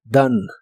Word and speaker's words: done: done y significa hecho la o se pronuncia como una a y la e del fin final no se pronuncia done done el verbo comer en